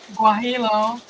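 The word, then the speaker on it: guajillo: profile um I'm delicious guilo gu I can't pronounce that g u a d i l l o yeah Double L has a y sound in Spanish a Double L because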